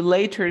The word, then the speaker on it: later: También, Esa, esa T también se pronuncia como R claro que sí, porque esa T, ¿entre qué se encuentra? de dos sonidos vocales. Entonces se dice see you later o see you later.